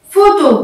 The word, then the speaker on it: photo: Une photo. Donc dans le mot photo, il y a combien de syllabes?